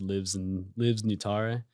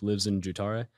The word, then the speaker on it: livsnjutare: And to answer the second part of your question, LIVSN is the first part of a word in Swedish pronounced LIVSNJUTARE, which phonetically is more like LIVSNJUTARE, and it means one who lives life fully and to the extreme.